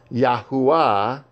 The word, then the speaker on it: Yahuwah: Yahweh instead of Yahuwah, Yahweh instead of Yahweh, however, Yahuwah is the more accurate.